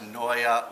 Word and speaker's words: Naeye: a Flemish and uh it's pronounced Noya like paranoia want some a mic